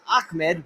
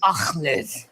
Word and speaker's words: Ahmed: So, uh, Akmed. No, no, it's Ahmed. That's what I said. No, you said Akmed. Is Ahmed.